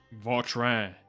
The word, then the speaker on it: Vautrin: Vautrin. Apparently this is how you Monsieur pronounce it.